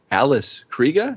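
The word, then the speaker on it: Alice Krige: not finish but uh i guess it's alice krieger so we've been saying it wrong for yeah i don't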